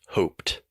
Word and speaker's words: hoped: representation so for example the word hope we have an e at the end in writing but the last sound is the P sound hope we're not saying hope B so in the past this takes the T sound hoped so some common super